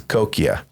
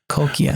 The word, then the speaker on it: Cocchia: In Italian, it's coia. Coia. Cuz then Italy, they pronounce it. Oh, in Italian it's C O C C H. I mean, America C O C H I, but it's pronounced coia.